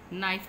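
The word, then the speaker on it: knife: और इधर नाइफ, हम कनाइफ नहीं पढ़ रहे, के की साउंड को हम यूज़ नहीं कर रहे, ठीक है? नाइफ पढ़ रहे हैं और के साइलेंट है इसमें।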